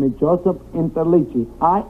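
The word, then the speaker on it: Interliggi: My name is Joseph Interichi.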